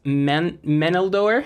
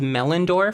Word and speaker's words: Meneldor: Another bird who really helps with this strat is Meneldor. I always said that name wrong. I was thinking it was Melindor for the longest time, and I just sounded